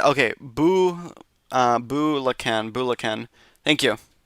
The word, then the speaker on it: Bulacan: Bulacan. Thank you. Bulacan. Thank you for the pronunciation uh correction.